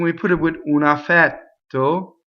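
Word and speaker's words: affetto: So now, I ask you, do we do two T's when we do a double T? The answer is no, right? We do one T. If we did two T's, it would sound funny. Affɛtto. Oh, I can't do it. Affɛtto, right? Something like that. Two T's. Affɛtto. We just go up to it and don't say it. The space makes the double T.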